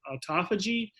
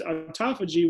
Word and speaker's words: autophagy: But the term of it is called autophagy. It's spelled AUTOPHAGY, and it's a pathway that we have.